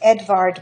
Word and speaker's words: Edvard: 20th century German expressionism are the Norwegian artist Edvard Monk and the Belgian artist James ensor monk is spelled Ed well his first name is spelled